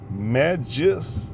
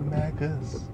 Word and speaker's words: Magus: man and that group speak majus not Magus Magus sounds stupid so I don't care